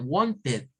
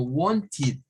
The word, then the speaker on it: wanted: pongo es de la mayoría va a decir Wanted pero no se pronuncia así se debe pronunciar como haciendo esto de un sonido como y di sí entonces tendríamos diciendo algo como wonchid para pronunciarlo en pasado eso lo vamos a